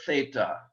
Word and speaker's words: theta: their fourth new letter theta the th sound for thin uh theta uh unless you're learning greek and germany in which case you would say zeta and not theta because i think in